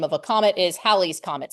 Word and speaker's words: Halley's: of a comet, is Halley's Comet. Some people say Haley's Comet. We don't actually know how he pronounced it. Astronomers tend to say Halley's Comet, so that's what I'm going to say.